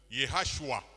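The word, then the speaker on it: ישוע: Jésus en hébreu se prononce Yehashua.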